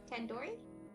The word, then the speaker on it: tandoori: Surely you at least recognize tandoori chicken. You're saying it wrong. What, really? Tandoori? Tandoori. The do isn't like door. It's like doo-doo head.